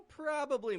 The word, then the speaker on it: probably: it it probably now the key to pronouncing this nice and clearly is in the stress the pattern that we want to identify here is where the strong and weak syllables are if you can identify the weak syllable or even the syllable that vanishes then you'll be well